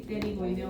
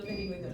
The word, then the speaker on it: pterigoideo: Y por último, los dos músculos pterigoideos, pterigoideo lateral y pterigoideo medial. Espérenme que es el del dedo. Bueno, el músculo pterigoideo empieza con P, pero no se pronuncia. Es pterigoideo, no pterigoideo.